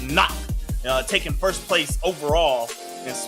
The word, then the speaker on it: NAHC: And NAHC, pronounced knock, taking first place overall and repin near the top 2.